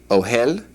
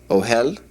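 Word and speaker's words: אהל: All right, the word for tent is ohel, ohel, and the word for tent in the plural is ohalim, ohalim.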